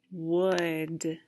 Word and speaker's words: would: next word this is a word that begins with a w and rhymes with could do you think you know my word my word is would would number four next